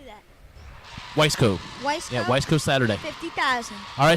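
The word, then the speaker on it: Wiseco: Weisco.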